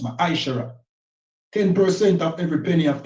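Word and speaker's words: מעשר: Malachi chapter 3 8-10 means tent in the Hebrew and it's pronounced misher 10% of every penny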